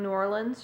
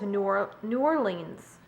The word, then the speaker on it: New Orleans: good american accent but instead of saying new orleans she says new orleans new orleans not like new orleans new orleans i've never heard someone pronounce new orleans like new orleans new orleans like pronouncing every syllable i don't know maybe